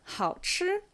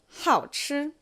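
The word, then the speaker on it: 好吃: So, one way to pronounce it, third tone, first tone, 好吃.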